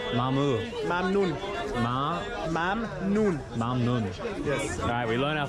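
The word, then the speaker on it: ممنون: Mamnoon. Mamu. Mamnoon. Mamnoon. Mamnun.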